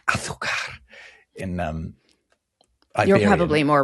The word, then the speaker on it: azúcar: You mentioned that the Spanish for sugar is azúcar, azúcar. I don't know how you say it in the Americas, but it's azúcar in um you're probably more right than me.